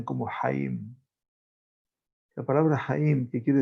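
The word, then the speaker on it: חיים: escribe con 4 letras en hebreo que se pronuncian como Haim.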